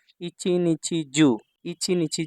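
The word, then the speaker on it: 一日中: আর এখানে হচ্ছে নাকারক কাঞ্জিতে হচ্ছে জু ইচ ইচি নিচছি জু ইচি নিচছি জু অর্থ হচ্ছে সারাদিন এই শব্দটা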